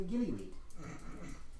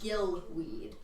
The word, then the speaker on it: gillyweed: I sent you out for gillyweed. Well, We- you're freaking We wrong. had a helpful merfolk inform us that it's supposed to be pronounced gillweed. Oh, wonderful.